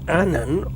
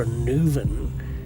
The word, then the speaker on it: Annwn: mythology means dogs and Anan or a newvin in an older pronunciation means the ender world